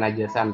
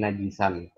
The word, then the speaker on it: najisan: bacanya itu bukan najasan tapi najisan.